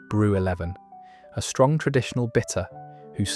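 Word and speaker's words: Brew XI: Its most famous ale was brew 11, pronounced brew 11, a strong traditional bitter whose slogan proudly declared it was for the men of the Midlands.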